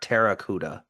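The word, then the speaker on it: Pteracuda: that P I think that p is silent bro I think it's versus ter Terracuda Terracuda like pterodactyl but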